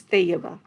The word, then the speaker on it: Tayyiba: It's actually a soft T, so it's Tayyiba.